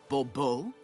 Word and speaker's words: Bobo: The emphasis falls on the last syllable. Bbo.